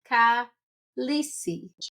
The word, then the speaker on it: Khaleesi: This is episode 4 with, I am going to say it correctly today, Khaleesi.